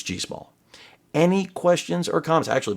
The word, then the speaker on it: GIISSMO: And remember, that is the pronunciation. I didn't make that up. It may read like GIISSMO, but the manufacturer assured me it's GIISSMO.